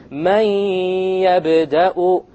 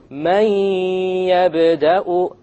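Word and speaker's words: مَن يَبْدَأُ: And you drop the noon sound. But you have a ghunnah. And that's the nasal sound.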